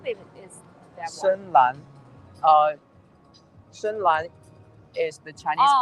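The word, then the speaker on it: 深蓝: Shenlan is the Chinese pronunciation.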